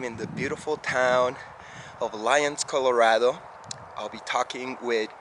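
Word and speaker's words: Lyons: here in lions colorado am i saying it correctly lions yeah totally just spelled a little different uh-huh yeah lions like the animal beautiful how is it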